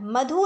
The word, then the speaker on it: मधु: मधु शब्द अशुद्ध है। जैसे बोलते हैं ना, बुलाते हैं किसी को, बोला मधु, तो उसमें क्या हुआ? बड़े ऊ का उच्चारण हुआ। तो जैसा हम उच्चारण करते हैं वैसे ही बोलते हैं, लेकिन बड़ा ऊ का उच्चारण यहाँ अशुद्ध है। शुद्ध क्या है? छोटे ऊ का उच्चारण। मधु नहीं, बल्कि मधु शब्द शुद्ध होता है।